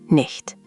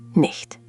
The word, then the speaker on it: nicht: Nicht. Nicht. Good. Try to make that ch sound like the H in huge or the ch in Bach. Let's try again. Nicht.